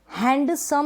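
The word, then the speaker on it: handsome: हैंडसम, हैंडसम है ना, यहाँ पे हैंडसम नहीं बोलेंगे, हम बोलेंगे हैंडसम। यानी एन के बाद हम डी को प्रोनाउंस नहीं कर रहे हैं, एन के बाद डी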